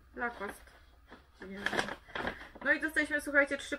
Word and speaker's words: Lacoste: No raczej bez E. Lacoste.